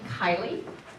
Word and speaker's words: Kiely: My name is Kiely. It's spelled K-I-E-L-Y. It's driving Dick Keen crazy. It's Irish, not German.